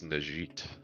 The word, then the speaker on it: Najit: You mispronounced it. It's Najit.